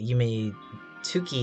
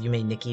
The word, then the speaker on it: Yume Nikki: Also, someone on stream Tuesday pointed out that Yume Tuki is actually pronounced Yume Nikki because tu is ni in Japanese, and I like completely failed and probably disappointed my Japanese teacher in spirit.